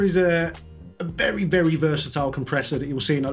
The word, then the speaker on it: Comprexxor: the it's another t-rex it's the t-rex compressor i think i think that's what they call it the compressor it's compressor spelled with x's instead of s's so what do you